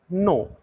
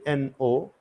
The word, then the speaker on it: know: want to tell you uh k n o it is no k n o W no k n o w no means no no foreign but